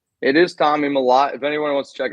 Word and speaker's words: Mellott: However you want to pronounce his name. It is Tommy Mellott.